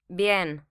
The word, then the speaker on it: bien: on its second syllable the Spanish for well as in I'm feeling well is bien bien here a weak vowel combines with a strong vowel to make a single syllable the Spanish 4 language